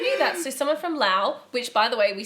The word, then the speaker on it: Laos: So someone from Laos, which by the way, we started off calling it Laos or Laos, and then some of you guys were like, it's Laos.